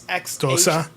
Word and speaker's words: Xhosa: And the language that they speak in the movie is I can't pronounce it, but it's Xhosa. Xhosa, Yeah.